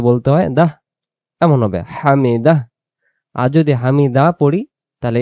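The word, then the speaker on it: حمده: আমরা যদি হামিদা পড়ি তাহলে এই এতটুকু উচ্চারণ হইলো। এই হা অক্ষর একটা দেখা যাইতেছে। এটা তখন উচ্চারণ হয় না। এই হা অক্ষরকে হা অক্ষরকে যদি আমরা বলতে চাই তখন আমাদেরকে বলতে হবে হামি দাহ।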